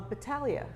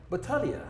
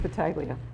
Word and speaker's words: Battaglia: your lesson correct Oh Battaglia Battaglia but many people pronounce it Battaglia well seal at American we see the G and we can't help it that's right right there